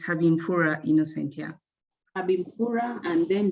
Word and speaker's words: Habimfura: Yes, it's Habimfura Innocent, yeah.